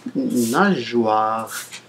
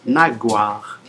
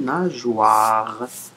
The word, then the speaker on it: nageoire: Si vous avez remarqué que ici, nageoire, ça s'écrit avec un G, E-I, E-O-I. Normalement, le O-I, il se lit wa. S'il n'y avait pas le E, il se lirait naguar.